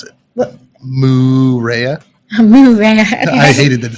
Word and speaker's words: Moorea: So it's spelled in Tahiti Moorea. Lupa over here, for some reason, can't pronounce that. Marea. I refuse to pronounce it. What? Moorea.